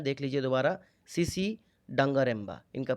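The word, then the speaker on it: Tsitsi Dangarembga: इनका नाम है, देख लीजिए दोबारा, सीसी डंगारेम्बा। इनका प्रोनाउंसिएशन ऐसे ही होता है।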